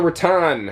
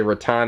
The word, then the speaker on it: rattan: rather this is the Raton uh Decor spelled like ratten I can only imagine that they were trying to say Rattan as in like Boca